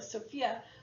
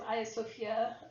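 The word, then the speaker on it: Hagia Sophia: wisdom still stands and some people have pronounced it sophia but actually as aya sofia um it's the beside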